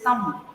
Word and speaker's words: thumb: It is not thumb. It is thumb. The B should be silent.